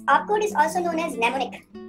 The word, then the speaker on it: mnemonic: is also known as nemonic these are the commands of assembly language m n e m o n i c this m is silent mnemonic all right and this